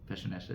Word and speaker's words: Piaseczno: As where you from is Pesha is the proper pronunciation of PSA. No one says it like that except for people who know.